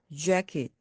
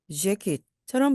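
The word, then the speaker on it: jacket: 입술을 앞으로 좀 내밀면서 재킷, 재킷처럼 발음해 주시면 영어스러운 소리가 납니다. 한국말은 재킷 하면서 입술이 옆으로 움직이죠. 그런데 영어는 앞으로 입술이 나옵니다.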